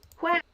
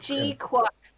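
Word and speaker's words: GQuuuuuuX: No, you say it's pronounced Quux, but... What's with the G in front of it, then? Guac. Gundam? Guac. G Quux is how you're supposed to say it.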